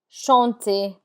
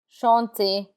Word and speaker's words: chanter: There are exceptions to that rule, and the R is not pronounced in words that end in ER. This list of words are mostly verbs like danser, to dance, danser, chanter, chanter. The ER has an A sound like AY, danser, chanter.